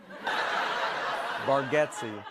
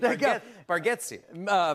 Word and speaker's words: Bargatze: Bargatze.